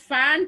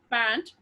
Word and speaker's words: pant: Many of them pronounce it as fant also. Fant is not fant, children, it is pant.